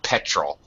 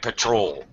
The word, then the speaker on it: petrol: if you if you the second syllable is an unstressed syllable and we just use the schah sound the kind of uh if you pronounce it too well it sounds like Patrol okay petrol Patrol is a is a different word altogether petrol petrol quick better yeah